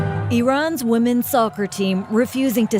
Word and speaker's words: Iran: did a video on Iran, that many people were saying that I was pronouncing it wrong. And that is pronounced Iran, not Iran.